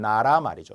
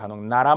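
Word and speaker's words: 나라말: 머리글 또는 국어를 나타내는 나라 말이죠 나라 말 근데 학생분들이 나란 말이 이런 분들이 있어요 나랏말 안 돼요 표기를 잘 보세요 만약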